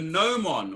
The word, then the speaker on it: gnomon: It's called a gnomon, or a gnomon it's spelt, but it's called a gnomon.